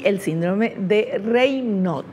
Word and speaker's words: Raynaud: y el síndrome de reyot se escribe así pero se lee reyot y vamos a ver